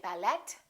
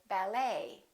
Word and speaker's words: ballet: almost always silent so English speakers pronounce it the same way we don't say bye let we say ballet a few more et